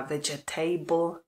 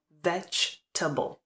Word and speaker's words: vegetable: tom smyslu ale pozor je to Vegetable Vegetable To znamená že máme veg a Pak následuje T čili a t takže to písmenko E které v té psané podobě je potom G se vůbec nevyslovuje polkne se Vegetable a ta koncovka která by normálně se vyslovovala sama o sobě table jako stůl se tady vyslovuje stejně jako v případě toho kable Vegetable comfortable Vegetable pozor na to